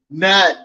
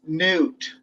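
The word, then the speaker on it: Knut: say it's pronounced um nut but it's newt the k is silent which makes makes a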